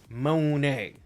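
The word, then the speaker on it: Moné: It's M-O-N-E, bro. Monet. I understand if it was M-O-N-E-Y and it looked like money, but no, it's accent, thank you.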